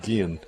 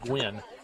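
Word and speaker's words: Guynn: That'll bring in Riley Gwynn, spelled G-U-Y-N-N. Gwynn. Gwynn? Gwynn, yeah. Gwynn, Actually, yeah. Coaches before the ball game pronounced Gwynn.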